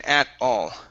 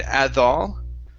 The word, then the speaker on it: at all: one for you is the t sound in at all okay now your tongue moved forward and touched your teeth so you had said add all okay so we can